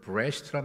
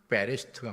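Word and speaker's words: בראשית: 저기서 아 베레시트인데 어떤 분은 브레시트란 말로 이렇게 발음하기 때문에 하도 문제를 지하는 분들 있을까 봐 같이 썼어요. 그러나 베레시트가 맞습니다. 저는 제가 볼 때 베레시트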